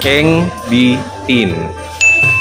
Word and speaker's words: Eng Bee Tin: So ayan, we are currently at the largest store ng Engditin dito sa may Chinatown Binondo. Na-pronounce ko ba ng tama? Nope! Engditin.